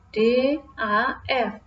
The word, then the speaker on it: dough: Ya, ini DAF, bacanya D-A-F, DAF. Tulisannya D-O-U-G-H, bacanya adalah DAF, yang berarti adan.